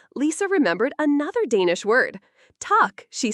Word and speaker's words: tak: "Tak," she said proudly. "Tak," pronounced like tack, means thank you.